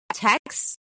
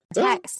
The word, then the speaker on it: Taix: nice restaurant very uh Taix Taix is how it's said but you were I think your your way sounds better. Taix rhymes with Rex.